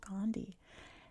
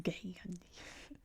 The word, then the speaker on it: Gandhi: there's an article about Gandhi and he was like, "Oh, you said his name wrong. It's Gay Yandi."